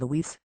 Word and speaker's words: Lues: Lues, pronounced Luis.